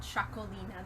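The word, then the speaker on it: Txakolina: um it's not chocolate wine Robert it's called chocolina that's how you spell that's how you pronounce the varietal so I'm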